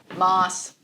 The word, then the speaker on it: Maas: Well, we know how you pronounce it. Ready? Sarah J. Maas. Maas.